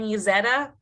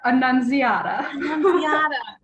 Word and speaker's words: Annunziata: which is super exciting bridgette and yuzeta i think i butchered i did i was practicing her last name prior to this bridgette help me out it's bridgette annunziata bridgette and nunziano we